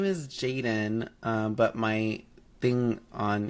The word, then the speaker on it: Jadon: right okay um then my real name is Jaden um and it's not spelled like that uh it's spelled it's not spelled